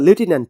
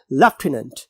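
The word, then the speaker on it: lieutenant: पढ़ा जाता है और अगर हम इसको अमेरिकन पढ़ेंगे तो इसको टिनेंट पढ़ा जाता है तो because we are following standard English that is British accent तो we have to pronounce this word as लेफ्टिनेंट तो क्रिस्टोफर ने उस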